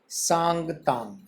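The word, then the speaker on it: Changtang: इसका प्रोनाउंस भी लिख लेना सांगतांग, सांगतांग, क्योंकि ये तिब्बत क्षेत्र में पड़ता है और राइटर वहाँ गया तो कुछ वहाँ के लोकल वर्ड हैं उसी हिसाब से यूज किए गए हैं।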